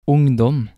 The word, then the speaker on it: ungdom: Sometimes the letter U will sound like O. Examples of this are ungdom, bukse.